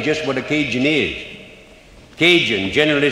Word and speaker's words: Cajun: Cajun, generally spelled C-A-J-U-N, pronounced Cahoon in Mexico.